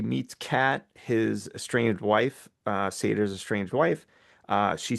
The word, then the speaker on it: Sator: I'm gonna say, how do I say his name? Sator? Satur? Seder, yeah. Sater. That's right.